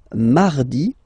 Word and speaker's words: mardi: So you can hear that you don't pronounce it that strongly, this R. Mardi, mardi, okay? You don't need to go too deep like mardi. No, no, no. You don't move your tongue, so it doesn't sound like mardi.